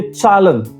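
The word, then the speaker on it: Zahlen: जैसे चालन विचालन का मतलब होता है नंबर्स। तो जेड से शुरुआत होती है लेकिन ज साउंड नहीं आएगा। आपको साउंड आएगा चलन तो ये जेड हो गया।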